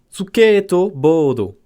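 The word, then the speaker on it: スケートボード: Alors, skate, tu le prononces... Suketo. On l'a ici. Suketo. Suketo. Et board, que tu dis évidemment pas board, mais board, ça se dit bodo. Bodo. Suketo bodo.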